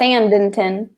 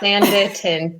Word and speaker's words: Sanditon: Without the extra N? Sandin. What? Sandinton. No, Sanditon. There's no N in the middle.